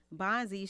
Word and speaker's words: Bondzie: Bondzie. Did I pronounce that correctly? Bondzie.